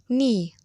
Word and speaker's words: knee: facts 6 taxi not the letter k is silent in a few words easy no knee knife listen and say the